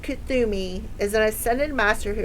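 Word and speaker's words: Kuthumi: Kathumi, pronounced Kathumi, is an ascended master who appears as a well-dressed Indian man with a golden aura.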